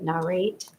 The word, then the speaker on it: Narrate: Charlie bright good evening how do you say the company narate narrate it's like narrate like tell a story oh got it so